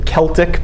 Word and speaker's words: Celtic: When we say Celts, that's spelled C-E-L-T-I-C, the Celtic people. Some people pronounce it Celtic. Either way is correct. Either way is right.